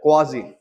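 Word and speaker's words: quasi: क्वाजी static proper pronunciation तो ये है क्वाजी मियां बीवी राजी तो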